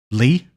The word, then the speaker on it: Lea: and becomes a nobody I think it's pronounced Leah no it's pronounced Lee like what what's his name SX uh speaks to him and he pronounces it Lee it's not Leah pretty sure all the